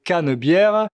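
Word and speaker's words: Canebière: C'est aussi le point de départ de la cannebère prononcé cannebère qui est l'avenue principale de la ville sur laquelle il y a des restaurants, des boutiques et cetera.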